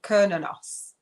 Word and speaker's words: Cernunnos: So it says it's pronounced Cernunnos, right?